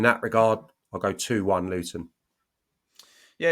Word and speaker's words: Luton: Luton with a T versus Swansea.